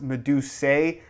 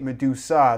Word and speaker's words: Medusae: in fact say it Medusa the E is simply there to make the logo look a little bit cooler it really has nothing